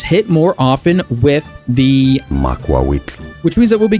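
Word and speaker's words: Macuahuitl: You are looking at Julian's pronunciation guide, where we look at how to pronounce Makwawitl. Makwawitl is how it is said.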